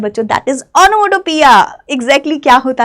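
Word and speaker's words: onomatopoeia: क्या हुआ, ये ओनोमोटोपिया हुआ। इसकी प्रोनाउंसिएशन का भी थोड़ा ध्यान रखेंगे, ये ओनोमेटोपोइया नहीं होता, ओनोमेटोपिया होता है, ठीक है।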